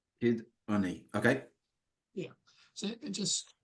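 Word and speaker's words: Cyd Ynni: So Cyd is CYD, like the Y in synonym, and then Unni, which means energy, is YNNI. Okay. So Cyd Unni. Kid Unni.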